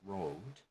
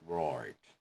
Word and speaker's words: road: For example, the word road would usually pronounce as road, or But in Wales and with some people in Northern Ireland, it might be pronounced as roared.